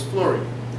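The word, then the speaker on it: fluorine: beryllium but very little here in flute because that's how you spell it but it's flurry now give me one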